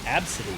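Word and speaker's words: Abcde: named absity absity Flores absity her name is spelled AB B CDE e and her last name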